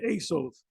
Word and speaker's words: Esau: and and Jacob and Esau yes Jacob and Asos that's how they say it didn't say Esau let's say Asos Asos and then they'll say